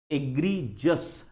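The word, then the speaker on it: egregious: एग्रीजस, pronunciation पे ध्यान देना। एग्रीजस है वो, हाँ, एग्रीजस। ठीक है, चलो सेंटेंस का मीनिंग, सॉरी, ये वर्ड के सेंटेंस पे जाएंगे।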